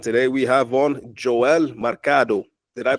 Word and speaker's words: Mercado: This is the How Did They Grow podcast, and today we have on Joel Mercado. Did I pronounce that properly? Yeah, Mercado's market in Spanish, but yeah, Mercado in English, if you say it that way, yeah.